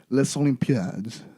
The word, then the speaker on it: Les Olympiades: Les Olympiades. It's Paris 13th district, Oh, which is called Les really? Olympiades. Really? Yeah, I think Okay. it's the S is silent.